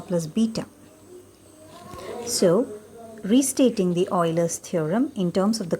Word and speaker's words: Euler: function satisfies the euler's theorem it's spelled as e-u-l-e-r-s and pronounced as euler's theorem now the euler's theorem